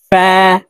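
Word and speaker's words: فاء: আইন গাইন ফা ফা ফা উচ্চারণ করার সময় উপরের দাঁত নিচের ঠোঁটের পেটের সঙ্গে লাগিয়ে উচ্চারণ করব ফা ফা কফ জিহ্বার গোড়া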